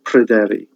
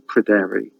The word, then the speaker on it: Pryderi: hair, in time becomes Pryderi. Now the Y sound, the Y in Pryderi, can either be pronounced as a U or as a E.